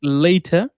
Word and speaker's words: later: You said letter, so it's not latter, it's later, or later life.